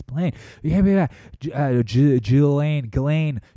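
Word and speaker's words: Ghislaine: him you know jillaine ghilane apparently you don't pronounce the S did you know that just not just Lane it's ghilane thank you a mere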